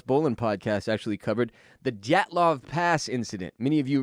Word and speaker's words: Dyatlov: Dyatlov. Right? The D is like almost silent, but not quite. Don't you you touch it just a teensy bit.